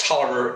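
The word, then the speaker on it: Taliaferro: no cows in moscow had the last name that was spelt t-a-l-i-a-f-e-r-r-o why that is pronounced toler escapes me but by golly i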